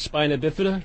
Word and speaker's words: spina bifida: what that is I it's pronounced spina bifida the reason I say